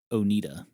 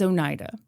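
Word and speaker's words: Oneida: Is it pronounced Onida? I looked it up. Or is it Onidita? It's Onida.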